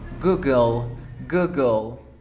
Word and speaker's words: Google: Nope, la E no suena, es mira, O. Google.